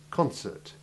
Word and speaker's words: concert: Concert, concert, scarce, caprice. Now you practice saying those words. And note the difference in stress between the noun concert and the verb concert.